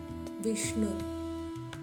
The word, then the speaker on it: விஷ்ணு: அடுத்த நாமம் விஷ்ணு இங்க ஷ எஸ்டபள்ஹச் சவுண்ட்ல சொல்லணும்.